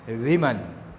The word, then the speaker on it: women: Main वीमन, देखिए इसका pronunciation वीमन है, WOMEN, वीमन, और WOMAN, वुमन. ये वुमन है, वू है, और ये वीमन है, वीमन, वुमन, वीमन.